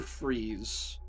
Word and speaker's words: Fries: Victor Freeze, even though his name is spelled like fries.